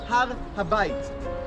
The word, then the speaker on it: Har HaBayit: In Hebrew, it's pronounced Har Habayit.